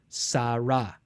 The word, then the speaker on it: Sarah: So this is a sin, a resh, and when the hey is at the end, usually it's not pronounced at all. And that's why the English name Sarah has an H at the end, because of the final hey.